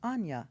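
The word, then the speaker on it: Áine: n and it's spelled it's pronounced Ana it's Irish I always find those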